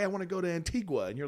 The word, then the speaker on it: Antigua: want to go to Antigua, and you're like, well, I don't really like flying. Then it's pronounced Antigua.